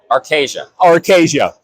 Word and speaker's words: Arcasya: Let me get the pronunciation right. Arcasia, right?